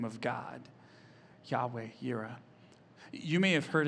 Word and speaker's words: Yahweh: y h w h yahweh it sounds a lot like breathing in the original hebrew yahweh you can't even